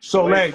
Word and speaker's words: Soleil: Soleil, just think of the sun.